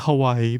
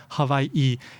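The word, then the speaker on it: Hawaiʻi: Basically, like you hear in uh-oh, that little stop in the middle, so you would say Hawaii, and the W is pronounced like a V.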